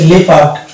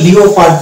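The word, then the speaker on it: leopard: অনুরূপভাবে এটা হচ্ছে লেপার্ড, লেপার্ড, এখানে হচ্ছে লেপার্ড, এই জায়গাতে কিন্তু লিওপার্ড না, এটা যদি লিওপার্ড বলি তাহলে কিন্তু আমাদের রং প্রনাউন্সিয়েশন হয়ে যাবে। তো এটাকে উচ্চারণ করতে হবে লেপার্ড। তাহলে লেপার্ডে আমরা ও আছে, যদিও ও আছে কিন্তু ওকে আমরা উচ্চারণ করি না।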